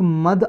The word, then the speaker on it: Madh: और एक टॉपिक और है, देखो, एक मद आइलैंड, MADH, इसकी प्रोनाउंसिएशन कुछ और भी हो सकती है, एक मद आइलैंड